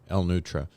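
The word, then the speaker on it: L-Nutra: innutra is that in nutracom l lutra Nutra L Nutra how do you spell it's so it's l like lyen Nutra like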